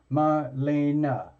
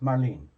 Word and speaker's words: Marlene: Or is it like, is it Marlene? Like 2 syllables? Like Marlene? Or is it Marlena? Like 3 syllables? Marlena. Okay. The reason I'm asking is I'm probably going to end up saying your name a few times. So, okay, it's 2 syllables.